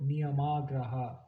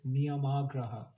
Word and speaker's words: niyamagraha: And niyam agraha with a long A means to hold on